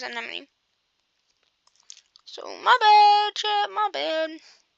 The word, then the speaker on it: Anemone: I used to say her name as an one, but then I started watching fire videos and I realized it was anemone.